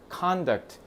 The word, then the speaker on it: conduct: 자, 그러면 right and wrong in the conduct. 자, 이렇게 발음을 con 앞에다가 액센트를 주면 이거는 행동이란 뜻이에요.